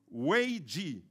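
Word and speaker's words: 危机: à voir avec le coronavirus ce mot se prononce en chinois wei ji et hu ji signifie crise en chinois mais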